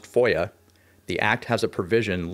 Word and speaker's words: FOIA: typically referred to by its initials and pronounced foia the act has a